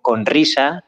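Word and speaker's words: Rizha: Hace poquito hablaba con Risa, ya se escribe R-I-Z-H-A, es una artista argentina, pero vive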